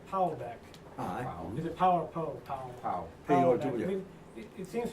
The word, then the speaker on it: Pow: I think, I mean, it's funny, I mean, please correct my likely mispronunciation, Powellbeck. Is it Power Poe? Powell.